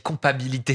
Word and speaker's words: compatibilité: S'il n'y a pas cette compatibilité-là, Il te manque une syllabe, ma chérie. T'as dit compatibilité, c'est compatibilité.